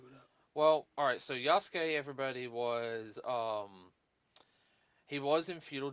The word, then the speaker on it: Yasuke: And the pronounce is Yosuke, even though it's spelled with a Y.